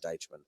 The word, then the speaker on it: Deitchman: hard to pronounce yet Deitchman is that syllable in there to die touch thanks man yeah thanks